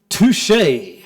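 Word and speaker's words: tusche: called this stuff here it is pronounced touche okay now wait a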